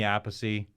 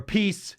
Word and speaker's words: Appice: So this is Vinny Appice, or Appice. His brother says their last name is pronounced Appice, but he's Vinny Appice